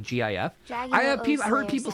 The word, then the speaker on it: GIF: it nobody pronounces it gif nobody pronounces it gif because that's ridiculous it's GIF it's always been gift the only reason this